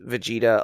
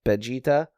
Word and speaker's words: Vegeta: was like where Toriyama because there's not really the letter V I think in Japanese Mhm. They It's like like they even pronounced Vegeta a little bit more like Vegeta.